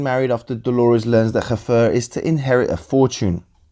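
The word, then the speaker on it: Hfuhruhurr: The two are then soon married after Dolores learns that Haffer is to inherit a fortune.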